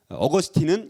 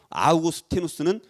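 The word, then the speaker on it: Augustinus: 어 버 스 팅 어거스틴은 영어식 발음 이구요 아우구스티누스는 라틴 10 발음 이에요 그래서 여러분들 어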